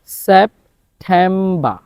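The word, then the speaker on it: September: এর উচ্চারণ হবে এবং শব্দের শেষে যদি আর হয় আর এর উচ্চারণ হবে না তাহলে খেয়াল করুন সেপ্টেম্ব তাহলে সেপ্টেম্বর না সেপ্টেম্ব অক্টোবা অক্টোবা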